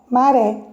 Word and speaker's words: maré: Olha o exemplo que a professora colocou aqui, maré. Então, a sílaba tônica, é o ré. Então, ela está na última sílaba da palavra.